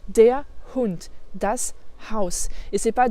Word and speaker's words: der Hund: Attention, dans der Hund, tu as bien vu la prononciation du R, dont je t'ai déjà parlé aussi. C'est pas der Hund, ça fait super français. Der Hund. Der Hund. On fait une petite coupure juste avant le H.